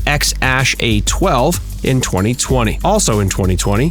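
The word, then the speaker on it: X Æ A-12: went on to have a son named or pronounced x-ash a12 in 2020.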